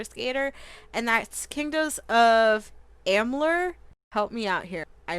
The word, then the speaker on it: Amalur: Tony Hawk Pro Skater, and that's Kingdoms of Amalur. Help me out here. I don't think I pronounced that right. Mm-hmm. There you go. I did? Wow. Amalur. There you go. Amalur, yeah.